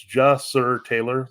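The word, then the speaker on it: Ja'Sir Taylor: of reasons for this it's j sir Taylor that's how you say his name the slot receiver for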